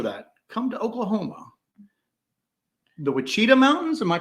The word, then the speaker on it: Wichita: The Wichita Mountains. Am I pronouncing that right?